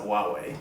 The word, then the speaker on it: Huawei: So they're also planning on making a 6-inch version, and so that's going to actually be made by Huawei. I think that's how you pronounce it, Huawei.